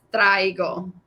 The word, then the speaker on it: traigo: Is it traigo? Una cobija? Is that right? Muy cerca. You are very close. This one is traigo.